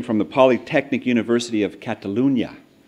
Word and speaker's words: Catalunya: the Polytechnic University of Catalunya notice how I try to pronounce the Enya there he pursued his doctor